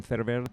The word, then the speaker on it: Ferwerda: And yeah, my name is, as you said, Ferwerda. Quite often people pronounce it wrongly, but you pronounce it very well.